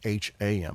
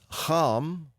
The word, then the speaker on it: Ham: It's just not pronounced Ham, it's pronounced Ham.